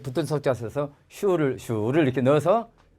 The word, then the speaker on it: 属: 자, 그러면 속자가 소자만 남고 발음은 어떻게 돼요? H가 있으니까 복모음이 되고 바다가자 서산자 해당되지만 삼성이니까 슈.